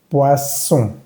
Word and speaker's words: poisson: La diferencia en pronunciación es que esta S va a vibrar, mientras que esta doble S no va a vibrar. Poison, poisson.